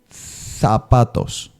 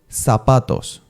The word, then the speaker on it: zapatos: So in Spain, when you pronounce the Z letter, your tongue has to stay between the upper and down teeth. So it'll be zapatos. And then in Mexican Spanish, zapatos. It's more like an S pronunciation, right?